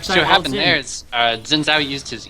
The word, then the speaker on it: Xin Zhao: Is that how you say his name, Xin Zhao? Xin Zhao? It's actually, if I remember correctly from my history, the ZH is pronounced as a J, so it's Xin Zhao.